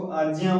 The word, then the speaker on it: आज्ञा: अच्छा, यहाँ पे जैसे आप लोग देखे होंगे आप लोग इसको आज्ञा पढ़ते होंगे, लेकिन ये शुद्ध उच्चारण नहीं है, इसको आज्ञा पढ़ना चाहिए, क्योंकि ये जो ज्ञ है इसमें क्या क्या अक्षर है देख लेते हैं।